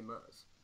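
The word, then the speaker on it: MRZ: But, like, don't say M-R-Z, just say Murs. Because that's how it's pronounced.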